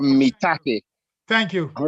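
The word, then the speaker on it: maitake: I keep hearing how you pronounce certain mushrooms, but the mushroom is called shiitake, and the other one is called mitake. Thank you. All right. Thank All right. Shiitake and mitake.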